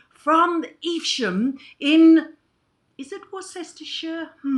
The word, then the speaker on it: Worcestershire: No, we in the British pronounce it as Worcestershire.